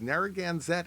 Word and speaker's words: Narragansett: The tourist attraction is Narragansett Indian Fall Festival, and I can pronounce that correctly because I like their beer.